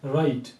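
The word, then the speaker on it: right: राइट राइट में अगर आप देख तो ये जी एच को हमने इसमें मुकम्मल तौर पर जो है वो साइलेंट किया है।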